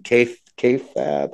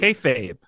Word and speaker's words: kayfabe: just a couple things to consider I'm gonna butcher the term but it's the wrestling term k kab uh there's a term kayfabe kayfabe thank you kayfabe and it's like what is that right well